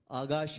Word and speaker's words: Akash: I've been asked to pronounce their name as Agash and Anand.